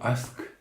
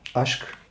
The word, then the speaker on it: aşk: Donc le mot aşk signifie l'amour. Aşk. Aşk, tu le prononces comme ça, aşk.